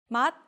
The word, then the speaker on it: 맛: The following consonants all sound like tiut when they are in the 받침. 맛, taste.